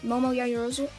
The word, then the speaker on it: Momo Yaoyorozu: Momo Yaoyorozu?